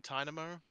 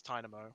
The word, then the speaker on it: Tynamo: happened to that game pinnamo and dynamo pretty sure it's tynamo plain armor yeah like tiny um but yeah no